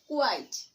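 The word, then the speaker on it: quite: দেন কিউইউআইটি, কুইট, কিউইউআইটি, কুইট, এবং vowel ই যোগ করলে হয় কিউইউআইটি, কুয়াইট, কিউইউআইটিই, কুয়াইট। সো ভাওয়েল ই ছাড়া উচ্চারণ হচ্ছে কুইট, এবং ভাওয়েল ই যোগে উচ্চারণ হচ্ছে কুয়াইট।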